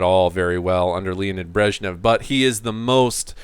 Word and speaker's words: Brezhnev: named Brezhnev, Leonid Brezhnev, Brezhnev is how you say his name, or how you spell his name.